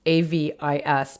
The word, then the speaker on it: avis: have the root avis a v i s pronounced avis in latin um avis which is